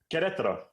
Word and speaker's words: Querétaro: Good, thank First of all, tell me how to pronounce the name of your club correctly. Querétaro. Querétaro, of course it is.